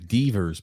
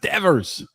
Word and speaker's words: Devers: you just call him I've never heard of Divas before what is this it's pronounced Devers you know you pronounce